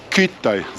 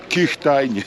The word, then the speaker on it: Kühtai: was do ośrodka narciarskiego kithai centrum hit i kit i zapamiętajcie tak wymawia się nazwę nie kishtainy który tak tylko kilka